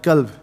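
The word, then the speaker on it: كلب: Qalb and kalb. Yeah? Heart or dog, depending on how you pronounce it.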